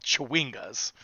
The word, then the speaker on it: chwinga: They're called Chewingas.